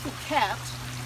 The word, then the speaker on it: Phuket: And of course the largest island in Thailand is pronounced Phuket and spelled phonetically in English, fuck it.